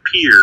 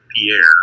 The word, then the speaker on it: Pierre: thing but then again it's Pier not Pierre and all the other